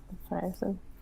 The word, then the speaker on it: Frierson: Yeah, Frierson.